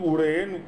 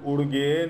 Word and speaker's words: Uren: You have now seen Uren, mispronounced by Tibetans as Urgen or Urgan.